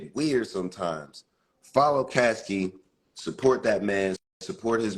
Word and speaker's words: Caskey: and follow case Caskey I I almost call him Casey I I asked him how to say his name correctly because the Pittsburgh gave